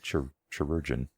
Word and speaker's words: chirurgeon: It's basically pronounced the same, just chirurgeon.